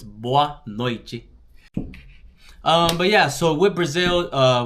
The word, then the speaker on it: boa noite: Also, whenever you're pronouncing the T next to an E, it's usually gonna make a ch sound. So it's boa noite.